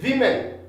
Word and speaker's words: women: And in plural, we say women. In singular, we say woman. And in plural, we say women. We say women. Now, this O, okay? This O is I when it is plural.